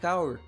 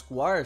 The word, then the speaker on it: Kaur: Let me present to you Haddie Kaur, also pronounced as Kaur, so I have been saying it wrong this whole time.